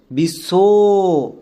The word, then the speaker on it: বিশ্ব: যেহেতু ব এখানে সাইলেন্ট। তাই আমরা বইয়ের জন্য বি বসাবো না। বইয়ের জন্য বসাবো ডব এবং পুরো নামটাকে উচ্চারণ করো। বিশ্ব শব্দের শেষে ও সাউন্ড পাচ্ছি।